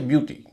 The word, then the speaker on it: beauty: जैसे ब्यूटी, BEAUTY। EAU का उच्चारण यहाँ पर होता है, ऊ बोला जाता है यू, ब्यूटी।